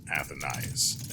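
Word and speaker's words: Athénaïs: Luxembourg Gardens right so her name is pronounced athenize as you've heard multiple times by now as soon as I heard it I remembered that the symbol over the eye is exact is you denote the fact that that letter is pronounced twice I will actually this increases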